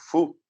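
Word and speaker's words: ふ: também sobre outras pronúncias, é o caso do fu, né? Que tem gente que fala ru, tem gente que fala fu, tem gente que faz um som intermediário, né? Fu.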